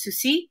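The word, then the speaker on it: Souci: Her name is Susie.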